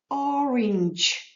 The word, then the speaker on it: orange: полуниця Cherry Cherry вишня Orange Orange буква і в кінці не читається але вона дозволила букві G читатися так як вона називається в алфавіті G Orange Orange апельсин Apple